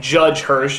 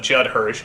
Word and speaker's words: Judd Hirsch: never quite pronounced correctly like judge Hirsch instead of Judd Hirsch Ralf Bosch key instead of ralph bakshi but the biggest one